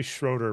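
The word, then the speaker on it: Schröder: Let's see how they say it because it's supposed to be Schroeder, but fine. Sure. Sure. Remember, you're German.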